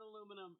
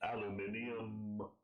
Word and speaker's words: aluminium: It's not aluminum. It's aluminium.